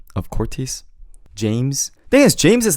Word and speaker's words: 제임스: So people will be like, oh, James. Do you see the emphasis on the im? Instead of James, it's James, James.